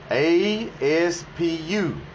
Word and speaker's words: Aspu: A-S-P-U. Aspu. That's how the accents over the words are pronouncing it.